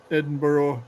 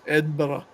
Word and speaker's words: Edinburgh: wraps it up um I would never pronounce edin edin b as Edinburgh or Edinburg is Edinburgh Edinburgh it's not Edinboro Edinburg but anyway um because I